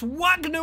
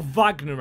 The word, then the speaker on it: Wagner: would be glorious it's Wagner with the shot or Vagner I believe I believe that's how it's pronounced anyway he is German as Here Comes Ole